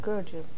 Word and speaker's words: Gurdjieff: how do you pronounce it? Gurdjieff.